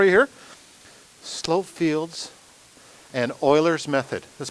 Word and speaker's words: Euler: and roll for you here slope fields and euler's method that's pronounced euler e-u-l-e-r legend has it that the